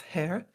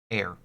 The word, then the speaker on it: heir: You can't fathom a guess as to why the blue bloodoods might want to ransom the family's hair. Air. Did you Did you pronounce the H in air?